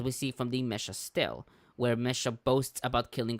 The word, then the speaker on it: stele: This is pronounced like in multiple ways. I usually pronounce it Steel. Steel. I've heard Stella, Steely. I've heard Steely Earlier today apparently we is heard one of the Steely.